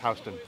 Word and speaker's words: Houston: Houston and Broadway. Houston? Yeah, it's spelled Houston, but it's pronounced Houston.